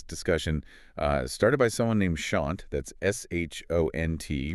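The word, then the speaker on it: Shont: We've been looking at this discussion started by someone named Shant. That's S-H-O-N-T, rhymes with front.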